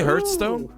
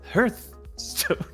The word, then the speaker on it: Hearthstone: play hearthstone i said no he says it's pronounced earth stone i did not hire that guy i was